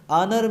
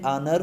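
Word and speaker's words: honour: एजाज की बात है ओनर में जो हा है वो साइलेंट है और इनर जो है कॉन्सोनेंट की साउंड दे रहा है इसीलिए दिस इस एन ओनर पर मी नेक्स्ट है दिस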